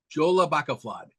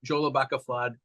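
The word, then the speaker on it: Jólabókaflóð: Yola FL Yola Baka flad how do you spell that j o l a b o k a l o d Jola Baka flad that sounds like a football player I'm sorry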